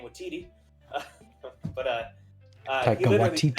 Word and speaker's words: Waititi: Yeah, can't pronounce his name Waititi. But Taika Waititi. Said, yeah, Waititi.